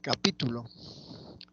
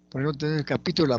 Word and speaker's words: capítulo: acá tenemos unos ejemplos leemos capítulo capitulo y capituló el acento se mueve capítulo laula que tiene un significado capitulo tiene otro significado el acento está en la penúltima sílaba y capitulo el asento está en la última sílaba y significa otra cosa entonces la ubicación del